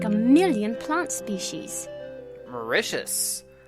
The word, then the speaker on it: Mauritius: a million plants species Mauritius rhymes with delicious tell me about Martha